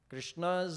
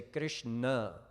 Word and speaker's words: Krishna: routes Chrissy and Rinna the retroflex nasal sound or na so we don't we don't actually say it correctly most of the time we say Krishna most of the time but it's Krishna so Chrissy shadow hiss